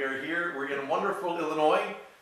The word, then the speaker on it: Illinois: We're in wonderful Illinois. Illinois depends on how you say it. I don't think anyone says Illinois. Somebody say Illinois. I thought, well, can I say it or not? But Illinois. Anyway, we are here.